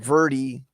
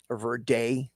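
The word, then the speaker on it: Verdy: of the system, and Verdi, or Verday, if you prefer how to pronounce it, his interpretation.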